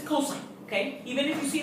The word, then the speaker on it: cosine: This is not a cos, it's not a cos, not a cos. This is cosine, okay? Even if you see it as an abbreviation, you say it whole, cosine.